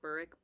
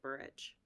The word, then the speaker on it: Burrich: And I think that like the UK pronounces it Burrick and the US pronounces it Burrich.